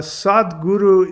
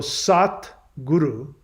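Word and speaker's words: Satguru: type of guru so sat guru so sad guru you know sad that's not really how it's spelled it's sat guru sat means truth of essence so when somebody is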